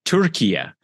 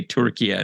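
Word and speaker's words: Türkiye: official name change so how do we pronounce it now what is it turkia turkey yeah turkey and there's an umlaut over the U but nobody expects Americans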